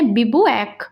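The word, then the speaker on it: bivouac: इसका प्रोनाउंसिएशन है बिबुएक, बिबुएक।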